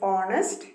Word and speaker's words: honest: here why because it's the letter h is silent so the word honest begins with the o sound so we have used